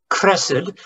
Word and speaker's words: chesed: Because the word love is actually the Hebrew word chesed. It's pronounced chesed.